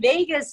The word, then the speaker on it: vagus: It sort of sounds like Las Vegas, but it's not spelled the same way.